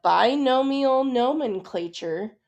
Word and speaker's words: binomial nomenclature: This is called binomial nomenclature. Okay, so pronounce it with me.